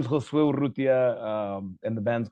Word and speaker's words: Urrutia: Yeah, my name is Rutia.